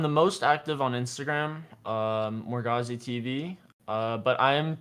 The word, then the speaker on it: Morgausse: a rogue called Morgausse, which she pronounced Morgausse, which is after like this sorcerer and Merlin or something in the Camelot stories.